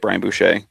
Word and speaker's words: Boucher: Boucher, is that how you say it, Brian Boucher?